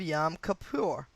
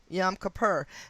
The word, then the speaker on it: Yom Kippur: attack came the Monday after the weekend of Yom Kippur. Yom Kippur, and that's spelled Kippur. Yomkippur.